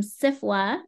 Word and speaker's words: SFWA: author's Guild and Jessica Mason who is from CIFA I think I'm saying your acronym right which